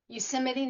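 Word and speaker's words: Yosemite: Um you it's pronounced Euseimde National Park and Euseite.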